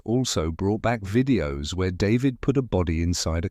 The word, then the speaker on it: d4vd: His stage name, pronounced David, was just a stylized version of his government name.